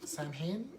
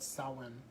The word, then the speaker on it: Samhain: of Little Sam, which is actually short for Samhain, I believe, which is a not correct way to pronounce that. It's actually called Samhain.